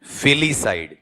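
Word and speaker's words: filicide: बताओ देखें अपने पास में इसका उच्चारण क्या है? फिलिसाइड।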